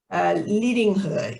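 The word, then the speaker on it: Lidingö: Pia joined Zonta in 2001 and is currently the president of the Zonta Club of Lidingo. Is that how you pronounce it, Pia?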